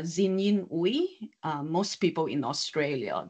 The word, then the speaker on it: Xin Yin: get the pronunciation right my full name is uh zinin uh most people in